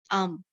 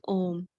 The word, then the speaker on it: Om: we are not saying um here we are saying om why because om here used as a word it's starting of the mantra so all the mantras start with the not with the um okay because then other